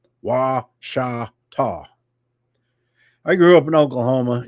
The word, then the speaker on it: Ouachita: And I called it Cushita when I first moved here. Everybody does that, but it's a Indian name. Pronounced Ouachita. Wa-sha-ta.